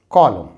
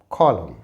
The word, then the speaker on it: column: autumn autumn यहां पर एम के बाद एन है तो एन का उच्चारण नहीं होता और इसे हम पढ़ते हैं कॉलम कॉलम यर इसे हम पढ़ेंगे